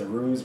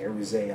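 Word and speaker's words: Aruze: z but everyone says aruse but it's not they pronounce the E aruse almost in French but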